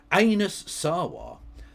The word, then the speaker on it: Anas Sarwar: This week, Anas Sarwar, Labour's leader in Scotland, that's how you pronounce it.